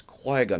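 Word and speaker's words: Qui-Gon: that effort to remember it's Qui gun not qu gun so fair enough but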